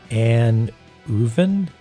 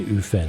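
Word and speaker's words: Annwfn: F is the V like valley. The W uh is a vowel like oo. Okay. So an uven anuven sort of thing.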